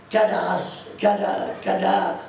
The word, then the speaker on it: Caderousse: Et vous entendez les habitants de Caderousse, les vieux habitants de Caderousse, quand ils parlent de Caderousse, ils disent Cadarousse, en patois. Comment vous dites Cadarousse. C'est ça, Cadarousse.